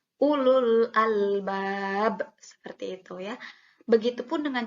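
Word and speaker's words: أولو الألباب: Nah, ketika bertemu dengan sukun. Contohnya, pada kalimat ini, ulul albab. Nah, setelah waw sukun, itu ada lam sukun. Ya, ada alif lam, yang dimana alif dan lamnya ini sukun. Sehingga dibacanya tidak seperti mad tabi'i, tidak ulul albab. Nah, tidak seperti itu. Tapi langsung saja karena tidak boleh dibaca panjang sehingga dibacanya ulul albab.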